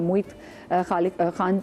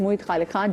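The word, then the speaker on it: Moid Khaliq Khan: कराची के साथ में मोई खालिक खान हमारे साथ मौजूद है आई खालिक खलीक है ये खालीिक मैंने सही प्रोनाउंस किया इट्स मोइद खालिक खान जो कि डायरेक्टर ऑफ़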